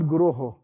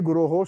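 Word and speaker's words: guroḥ: That is why in the Mangal Arti, we use the word Guruho. Vande Guruho Sri Charana Arvindam. It is not Vande Guru Sri Charana. Some of them mispronounce.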